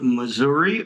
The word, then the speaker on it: Missouri: I'm coming to you from Marshfield, Missouri, or Missouri. I have found out that they pronounce it both ways.